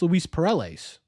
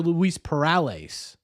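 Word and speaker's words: Luis Perales: biggest Perl a yeah so I've been saying Lis perll a that's that's how you say it or is it Lis parales oh it's Lis parales isn't it ah this is what this is this is what I'm talking about parales h password easier yeah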